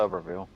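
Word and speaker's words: Tuberville: So, I got this clip of uh is it Tuber or Tubber? Tubberville, you said. I want to make sure I say it right. Yeah, Tubberville.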